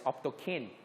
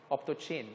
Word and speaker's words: optochin: antibiotic, and that is Optokine. Some people say Optochin. I don't like. It's Optokine. Okay, I pronounce it as Optokine.